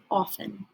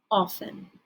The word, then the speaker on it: often: say this word is often often so you don't hear that t pronounced and that's why it's